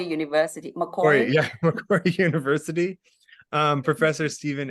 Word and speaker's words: Macquarie: Macquarie University. Macquarie?